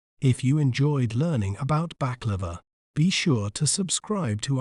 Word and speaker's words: baklava: We may pronounce it as baklava, baklava, bak, la, va, baklava.